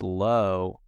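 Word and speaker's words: Loew: movie theater eponym and it's low which is spelled l-o-e-w and just that just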